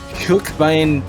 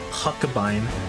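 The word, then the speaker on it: Huckebein: Hookbein 30. I think it's Huckabine. Well, I mean, in German we pronounce every letter, or just Oh.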